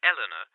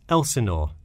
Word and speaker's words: Elsinore: My address is 45 Elsinore Court. I'm sorry, was that Eleanor? Could you spell that for me? Sure, it's Elsinore. E-L-S-I-N-O-R-E. Is this the number we should reach you at in the future?